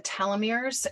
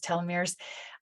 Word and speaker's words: telomeres: The way in which we pronounce telomeres varies. But the way I pronounce telomere is telomeres.